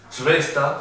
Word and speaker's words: Schwester: Y la SSH se pronuncia como sh. Con SSH me olvidé que les quería dar un ejemplo que es Schwester, que significa hermana.